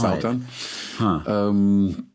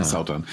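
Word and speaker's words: Sátan: with that the apostrophe, the A with an apostrophe is pronounced "ow" in Icelandic, so it's Sautan.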